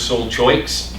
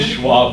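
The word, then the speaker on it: Seul Choix: if you ever go make sure you pronounce it correctly if you say hey we's Soul choices they know you're visiting all right it's swaah point and so this became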